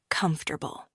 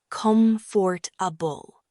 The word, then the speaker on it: comfortable: For example, let's take the word comfortable. Many learners pronounce it as comfortable, but the correct pronunciation is comfortable.